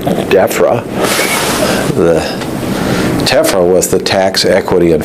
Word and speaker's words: TEFRA: And Eddie, who was a great punster, sort of said, Rod, you've always pronounced that wrong. It's TEFRA.